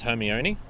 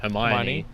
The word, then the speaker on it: Hermione: the first book i in my head read it as hermione and then for years later even uh i think i learned that it was meant to be pronounced hermione in probably when the